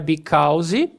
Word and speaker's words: because: Because, não é because. Corta isso aqui e corta isso fora. Esse AU vai se transformar como se fosse um O.